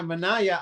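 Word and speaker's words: Manaea: with that other guy, Manaya, I Mana, how do you say that name? Mana. Mana. Just like that.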